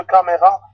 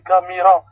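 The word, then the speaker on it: كاميرا: c'est mieux que caméra. Là, c'est camira. Eh ben, c'est la prononciation plus proche que caméra. Caméra, ça sonne plutôt latin. Mais camira, ça sonne plutôt arabe.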